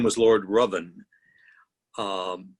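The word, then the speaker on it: Ruthven: series of women was whose name was lord rovin um spelled ruth then nobody pronounces it correctly it's actually robin and thank you the world the world assumed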